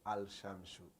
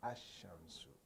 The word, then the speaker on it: الشمس: So when it comes to the huruf shamsiyya, al-huruf shamsiyya, there you do not pronounce the al, because you can't say al-shamsu. No, you say ash-shamsu, ash-shamsu. So meaning you add the